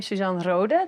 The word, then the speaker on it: Susan Rohde: So I am Suzan Rooda. Thank you for pronouncing my name so well.